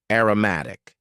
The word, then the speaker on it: aromatic: Aromatic. Please focus on the pronunciation here. Aroma as a noun. Aromatic.